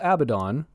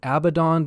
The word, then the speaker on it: Abaddon: late 30th millennium, and Ezekiel Abaddon, yes, that is how I will be pronouncing his name, the firstborn son of